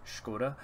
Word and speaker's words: Škoda: That's how I've always heard it pronounced, Škoda, and it gives you plus 10% factory output.